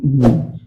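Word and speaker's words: knee: के N double E नी। तो यहाँ पे भी हम देखेंगे कि हमारा क्या है? साइलेंट।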